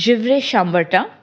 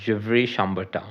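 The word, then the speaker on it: Gevrey-Chambertin: This is Givre Chambertin. Okay. Givre Chambertin. Okay. Okay. This is French, so it is a little roll your tongue and talk about it.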